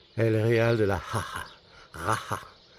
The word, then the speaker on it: Jara: Jara. Parce que le J c'est un ra. Jara. C'est assez difficile à prononcer.